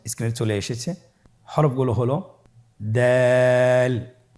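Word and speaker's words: د: দাল হরফটি বারিক হরফ। এ হরফটি উচ্চারণ করার সময় আমরা অবশ্যই তিন আলিফ টেনে পড়ব।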